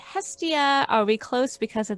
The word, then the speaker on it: Hestia: of the ancient greeks uh i would say hestia are we close because of that sound absolutely